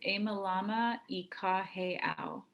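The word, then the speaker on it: E Mālama i ka heiau: This song is called E Malama, and the way you pronounce that first line is E Malama I Ka He Au.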